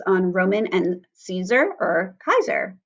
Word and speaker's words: Caesar: in cat so as we have soft C's like in Caesar as we would say today it is Kaiser but the with a hard K almost sound same with thing with